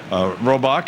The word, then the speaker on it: Robach: Robach and Charles McCord, and we'll all be back